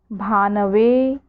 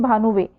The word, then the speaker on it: भानवे: यहाँ पे चतुर्थी विभक्ति में देखना है, काफ़ी लोग इस चीज़ का उच्चारण जो है शब्द का कैसे करते हैं, भानुवे। भानुवे नहीं है, भानवे, ठीक है।